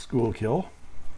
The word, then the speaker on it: Schuylkill: It's pronounced Schuylkill, unfortunately.